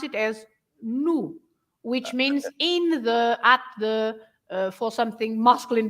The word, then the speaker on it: no: Yeah, the O at the end of a word is always pronounced as "u."